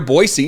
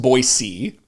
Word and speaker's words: Boise: Clearwater County uh but there's another town near boisey it's a suburb of boisey which by the way is not Boise it's pronounced boisey and it looks like kuna but it's Cuna